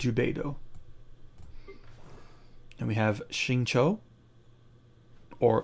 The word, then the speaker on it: Xingqiu: And we have Xingqiu, or Xingqiu as they pronounce him.